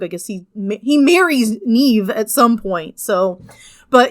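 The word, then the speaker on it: Niamh: king whose name is Neve. Um, I say Neem a lot because again it gets anglicized and mispronounced and that's what I was raised with.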